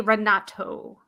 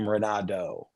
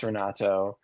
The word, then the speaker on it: Renato: I need to say rato that's true that's true wow I'm surprised that anyone noticed that almost every American pronounces my name radoo like a deer that's what I've been